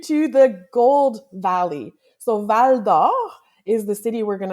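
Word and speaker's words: Val-d'Or: Well, my pronunciation could use some work obviously, but let's try Valdo.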